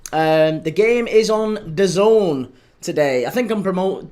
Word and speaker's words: DAZN: Um, the game is on Don today. I think I'm promote pronouncing that right. Done. I was always told it was D A Zazn, but allegedly it isn't DAZn. Apparently, it's Done.